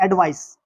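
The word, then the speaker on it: advice: एक स्पेलिंग होती है ए डी वी आई सी। एडवाइस। एडवाइस का मतलब होता है सलाह।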